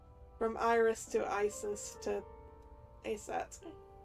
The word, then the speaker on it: Aset: named Isis yes but in ancient Egyptian it's pronounced closer to ISA or ASA from Iris to Isis to aset how do I explain this horus's father's